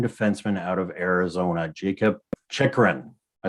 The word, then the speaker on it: Chychrun: for the young defenseman out of arizona jacob chikran am i saying it right this time yes